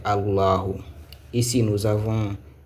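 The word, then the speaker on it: اللَّهُ: Ici, la lettre là, c'est A. La deuxième, c'est La. La troisième, c'est Hu. Et la prononciation, la lecture, c'est Allahu.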